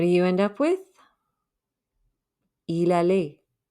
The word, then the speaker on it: il allait: Il allait. Don't pronounce the T at the end.